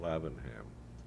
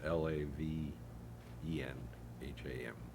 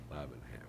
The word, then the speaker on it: Lavenham: They were stationed at Lavendham. Now they have it misspelled there. It's lava ven ha m. Okay. Lavenham.